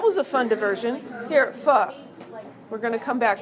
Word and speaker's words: pho: So pho is spelled P-H-O, and this doesn't quite work, but it's really close. What if we just skim off the end of the F? F-H-O, okay? And it makes the F sound.